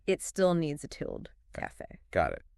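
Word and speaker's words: café: word we mentioned earlier Cafe Cafe it's a perfect example of an exception that proves the rule so the stress is on Fe yes making it an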